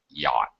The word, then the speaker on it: yacht: is a weird word we don't even pronounce the CH at all CH is silent yacht it is a strange